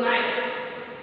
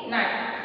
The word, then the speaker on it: knife: we use, very good, knife. Dear student, here K is silent. Okay, K is silent letter. So how to pronounce it? This word, knife. K is silent. For cutting vegetable, we use the knife.